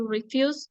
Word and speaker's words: refuse: Here, the difference is the emphasis falls on the second syllable in the first word,